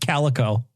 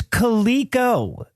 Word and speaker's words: Coleco: I think it's pronounced calico, buddy. Calico. What is a jellicle cat? I feel like if I knew, I would be more motivated. Jellicle Guys, just say it anyway. Guys, it's Coleco. Coleco.